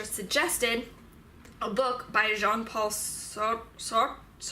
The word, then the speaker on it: Sartre: Also, my philosophical ethics teacher suggested a book by Jean-Paul Sartre? Just say it the French way and be pretentious, whatever. Called Nausea. So Sartre, we're gonna say his